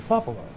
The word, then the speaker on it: cupola: But my problem with that was you couldn't have two people sit in the cupola, right?